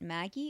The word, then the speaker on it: Magi: Anime titles to her credit include Aladdin in, I'm not sure whether you pronounce it Magi or Magi. It seems like in the Japanese they pronounce it Maggie.